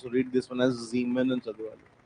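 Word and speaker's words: Siemens: more or the thing is that it's not Simon. You are supposed to read this one as Zmen and Zmen. Yes S is pronounced as Zed.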